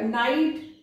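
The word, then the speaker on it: knight: नाइट, कनाइट बोला जाता था इसको, लेकिन वही कि साइलेंट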